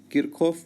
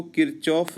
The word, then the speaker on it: Kirchhoff: शर्त के लिए शर्त किरखॉफ को किरचॉफ भी पढ़ते हैं। इंग्लिश में नाम ऐसे लिखते हैं। हिंदी में किरखॉफ किरचोफ दोनों चलता है।